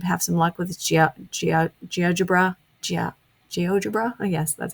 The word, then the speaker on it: GeoGebra: GeoGebra, yes, that's how you pronounce it, or the concept mapping.